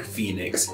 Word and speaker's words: Phoenix: represent those different pronunciations it led to strange things like phoenix being spelled with o e despite fact we don't pronounce it like that anymore totally found it more like ee that's how i got there